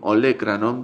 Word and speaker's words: olécranon: non el latín olécranon y en español se pronuncia igual que en latín olécranon pero con acento en la e en inglés no se